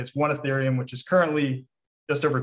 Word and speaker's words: Ethereum: um uh uh urethra i'm forgetting how to pronounce that oh ethereum ethereum okay yeah sorry yeah so a lot